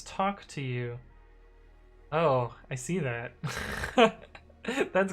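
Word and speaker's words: TOCTOU: better i guess uh do you also pronounce t-o-c-t-o-u as talk to you oh i see that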